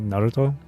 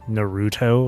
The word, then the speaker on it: Naruto: for example Naruto right Naruto but then I hear but then there would be people who would pronounce as Naruto or whatever like kind of like in a similar like way as burrito.